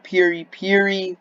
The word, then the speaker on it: Piri: Esper, Ninja, Dark Esper, Piri, Metalbat, and Phoenix. And it's actually pronounced Pir, but it's spelled Piri.